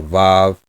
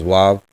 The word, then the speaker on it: Vav: Aleph, Vav, or Wa, or Vav. Biblical is Wav. Modern is Vav.